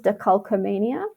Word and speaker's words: decalcomania: So the way that this is pronounced is decalcomania.